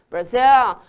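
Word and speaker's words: Brazil: meu de vocês aí Brasil é assim que pronuncia viu brzil e qual que é escrita ali com z e a última occupation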